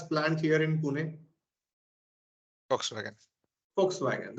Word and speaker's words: Volkswagen: here in Pune Volkswagen Volkswagen the spelling starts with v but it is pronounced as f now you see in